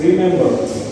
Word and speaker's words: remember: The third word is remember. It consists of three syllable. Remember the primary stress occurs on the second syllable me.